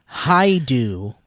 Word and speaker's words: Haidu: The name is pronounced Haidu, but please, that's just my father's name.